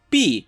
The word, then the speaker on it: Bea: on Gym Leader baya or how the English dub pronounced it be really be sorry English dub but I will continue to call a bear or BAE anyway this episode is